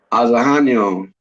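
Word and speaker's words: Ozhaino: Azahanyo.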